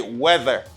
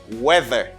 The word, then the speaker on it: weather: Okay, you just say weather. You just pronounce it as E. And here, this TH as a voice TH. You got a voice TH here. You just say weather, weather, weather.